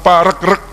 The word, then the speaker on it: Paregreg: biasa Dahsyat namanya Perang Paregreg saya tanya ke beberapa ahli yang betul itu dibacanya Paregreg apa Paregreg ternyata yang benar dibacanya Paregreg karena redut rezeki lihat